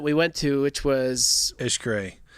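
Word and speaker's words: Xcaret: went to which was Ish gray that's correct like x-c-a-r-e-t is how it's spelled they had a boat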